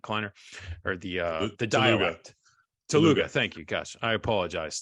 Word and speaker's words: Telugu: Telugu.